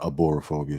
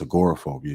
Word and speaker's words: agoraphobia: like i know you just diagnosed with agoraphobia not aborophobia so you know i can blow some soup cool i'm just saying i mispronounced the word it's agoraphobia y'all look it up